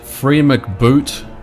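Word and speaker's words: FreeMcBoot: Is it free McBoot or is it free MC Boot? Because I always say free McBoot. But apparently people say that it's pronounced free MC Boot.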